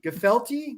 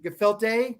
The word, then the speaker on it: gefilte: does the uh come from that where the pronunciation word is they're not yiddish that's where gefelt comes from the filthy gefelty gefilte gefilte oh you know the english language there's